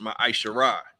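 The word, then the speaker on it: מעשר: Malachi 3 verse 8-10 means 10th in Hebrew and is pronounced ma isar 10% of every penny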